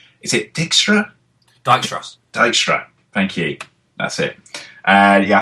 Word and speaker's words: Dijkstra: famous, and I can never remember how to pronounce his name. Is it Dijkstra? Dijkstra.